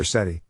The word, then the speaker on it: Sethi: You can tell you're a geek if you think Sethi should rhyme with get high.